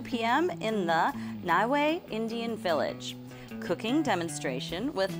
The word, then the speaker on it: Niue: It's actually pronounced Niue.